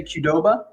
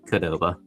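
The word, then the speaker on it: Qdoba: How would you pronounce it? Um, I think I would say Kudoba. Okay, Ben, I pronounce it Koba. Koba. We're just going short. C. Mark, you're actually right. I'm upset that you had it right.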